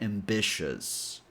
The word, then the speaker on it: ambitious: The three vowels, i o u, form one sound only since the syllable is not emphasized. If you've been watching my videos for a while now, you probably know that usually when a syllable is not emphasized, the vowel or vowels in that syllable become a schwa sound. So, uh. And the last sound is an s sound. So, this last syllable is shus.